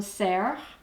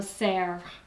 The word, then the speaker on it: cerf: Next line, une panthère, un zèbre, un rhinocéros, and our last word, un cerf. Remember, the F is silent. It goes against our careful rule. It's an exception. Un cerf.